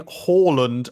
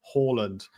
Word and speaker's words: Haaland: Who's Erling Haaland, Alex?